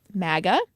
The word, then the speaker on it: MAGA: you say it like Maga or how do you even say the other I said Maga as in bag so the okay or